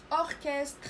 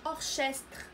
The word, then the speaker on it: orchestre: اوركستر هي اوركسترا. اوركستر فهنا سي اش تنطق ك. اوركستر هذه ما تنقراوش اورشستر، ما كنسمعوش سي اش انما ك.